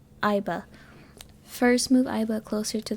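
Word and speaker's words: Aiba: I already forgot how to pronounce her name. Iba.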